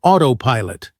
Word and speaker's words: autopilot: Quick pronunciation drill for autopilot. Stress the first syllable.